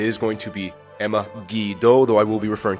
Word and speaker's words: Guido: to do it take it is not pronounced phonetically like another word uh which unfortunately in